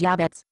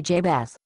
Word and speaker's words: Jabez: the problem is the people who translated your bible mispronounced my name your bible calls me jabez i can see by